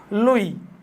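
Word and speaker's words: Lwoff: লই।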